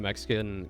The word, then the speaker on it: Mexica: It gets complicated when the Mexican culture and people are pronounced Mexica.